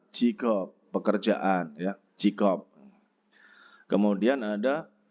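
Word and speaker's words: 직업: Tulisannya kan Jikob, tapi bacanya adalah Jikob, pekerjaan ya, Jikob.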